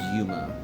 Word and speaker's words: Yuma: VY2's name is Yuma, and VY1's name is Mizuki.